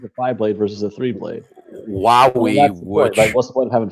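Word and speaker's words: Huawei: Wowie, okay, who makes electronics. I bought a Wowie. Wowie? I thought it was Hawaii. No, it's not. It's not pronounced that way.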